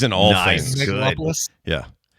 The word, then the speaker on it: Megalopolis: I still haven't seen Megalopolis. Is that am I saying it right? Megalopolis. Yeah, that's it.